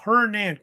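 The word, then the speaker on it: Hernán: of hernand hernand Cortez some you call him Hernando Cortez but he preferred hernand sometimes you'll see Cortez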